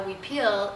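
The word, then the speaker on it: huipil: wearing repeals and a we peel is and it's like almost like w ee peel we peel and sometimes it's spelled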